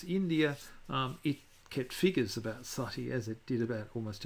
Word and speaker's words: sati: important, relates to the practice called sati, or sometimes otherwise pronounced and spelt sati by the British.